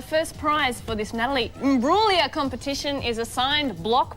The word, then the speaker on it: Imbruglia: Well, how do you pronounce it? How is it? Imbruglia.